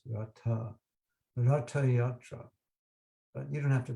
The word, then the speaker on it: Ratha Yatra: It's not Ratha Yatra, it's actually pronounced Ratha Yatra.